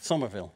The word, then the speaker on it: Somerville: um and You released Su how do I pronounce this Somerville Somerville okay okay yeah I left played it and